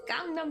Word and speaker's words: Gangnam: how they say it it's kind of like the Gangam Gangam Style all over again like every news anchor was saying gangdom style even my uncle said